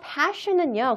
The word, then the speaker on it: passion: 발음 유의하세요. passion과 fashion은 충분히 다릅니다. 하셨죠? passion을 너무 정말 열중적으로 발음하다가 갑자기 fashion 이렇게 발음하면은 그게 내가 전달하려는 의미와 달라질 수가 있으니 발음까지 유의하셔서 다시 한 번만 더 읽어볼게요.